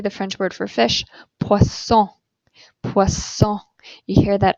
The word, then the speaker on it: poisson: But if you have two S's in the middle of a word, in French, you pronounce it like an S. Okay, here we see the French word for fish, poisson, poisson.